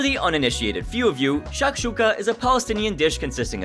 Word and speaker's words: shakshuka: her pronunciation fool you it's Shak Shuka not shush Shuka honestly despite her Butchery